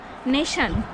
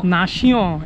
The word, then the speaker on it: Nation: হ্যাঁ, প্যারিসে একটা স্টেশনে, মেট্রো স্টেশনের নাম ছিল নেশন, মানে NATION। সে নেশন কিছুতেই বোঝাতে পারছি না, কিছুতেই বুঝতে পারছেন না। হ্যাঁ, একজনকে জিজ্ঞেস করেছিলাম। তারপরে কি নাশিও এরকম টাইপের। ফ্রেঞ্চ উচ্চারণও খুবই জটিল।